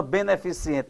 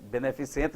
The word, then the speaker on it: beneficente: A pronúncia correta é o quê? Privilégio. A natureza beneficente. Beneficente nada.